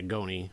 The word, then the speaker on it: Goni: Did I say it wrong? Yeah, Goni. It's like Tony with a G.